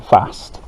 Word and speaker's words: fast: There's no R in fast.